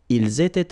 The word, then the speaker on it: ils étaient: Here, for instance, I make here a liaison, ils étaient, and then here I make a liaison as well.